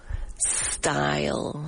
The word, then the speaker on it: style: So make sure you do not pronounce it with an e and simply say style with an s.